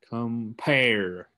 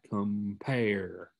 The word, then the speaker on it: compare: that shows you that it's a two-syllable word the pear part is the one that your tongue puts more stress on compare compare so going back to